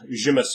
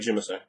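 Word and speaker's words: Tzimisce: There's a bunch of ways to pronounce it. In fact, in one of the White Wolf books, they have like 7 different pronunciations. Yeah, they actually do. So, you know, there's plenty of valid point behind using multiple pronunciations in the same game. But I like Jimese. I think that sounds nice.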